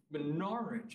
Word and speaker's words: Norwich: call it Norwich Connecticut norch it just I went wow only the oldest people pronounced it that way when I was young